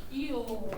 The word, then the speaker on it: fuel: Fuel. Good. Now I want you to sign that with me. Ready? Go. Fuel. Fuel. Fuel. Yeah, that came out kind of weird. Okay, but fuel. Just one syllable there.